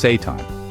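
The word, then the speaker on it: seitan: Satan, the devilishly good protein with angelic benefits. Yes, it's pronounced Satan. And no, it's not evil.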